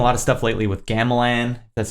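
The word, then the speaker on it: gamelan: been writing a lot of stuff lately with Gamelin that's how you pronounce it like the Balinese symbol symbols and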